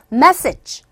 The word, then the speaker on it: message: 메시지 하지 마시고 첫 번째 강세 주는 거 머리에 입력하시고 message. 소리는 그냥 끝발음은 약하게.